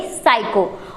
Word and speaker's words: psycho: इस पी को साइलेंट करके हम इसे पढ़ेंगे साइको।